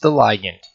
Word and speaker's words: ligand: will be referred to as the ligand or sometimes pronounced Alliant while the free-flowing binding